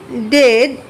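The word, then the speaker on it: dead: তারপর বলছে ডেড it shed like bad নট বিড। অর্থাৎ এই যে ডেড শব্দটা এটা উচ্চারণ হয় হচ্ছে বেডের মত কিন্তু বিডের মত না।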